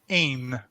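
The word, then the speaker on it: én: I in Hungarian and that is pronounced Aim so like the word pain or gain but you just take away the first consonant but we don't need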